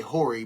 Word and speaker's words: Horry: Robert Horry, I say Horry because the H is silent.